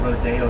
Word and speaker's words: Rodeo: Drive look down the St here right it's pronounced rodeo and not Rodeo it's not Rodeo Rodeo so